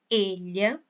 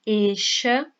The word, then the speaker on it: ella: em espanhol vai ser ella. o E fechado. E qual que é a pronúncia desses dois L's aqui? Você pode pronunciar como eu fiz, como se fosse um LH, elha.